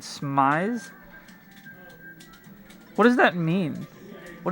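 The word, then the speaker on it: smize: Smise? Is that like eyes? But it was spelled like S M I Z E.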